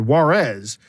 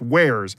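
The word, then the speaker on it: warez: someone wrote down where's w-a-r-z and i said juarez they said no it's pronounced where's yeah like oh hacker speak right and they're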